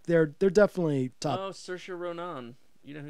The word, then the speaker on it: Saoirse: Oh, Saoirse Ronan. You know who Saoirse Ronan is?